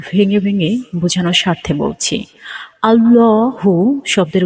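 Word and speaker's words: اللهُ: স্বাভাবিকভাবে যেভাবে পড়ি সেইভাবে আল্লাহু শব্দের লামটি এক আলিফ অর্থাৎ এক সেকেন্ডের মত টেনে পড়তে হয় আল্লাহু আল্লাহ শব্দের মোট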